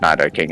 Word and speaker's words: Nidoking: was my night okay you mean Nidoking oh I pronounce it neither King and that's the way